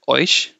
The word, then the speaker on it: eu: You should pronounce eu as, like, how do you say boy? Remove b, then it will be oi, right? Oi.